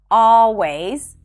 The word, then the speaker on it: always: The next hack is that you don't have to pronounce the L in the words always, alright, and already. It's not a mistake to pronounce the L, but if you're struggling with the L, just drop those sounds. Simply pronounce an ah sound right before.